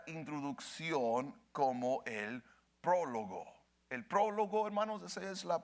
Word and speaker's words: prólogo: El prólogo, hermanos, esa es la pronunciación correcta.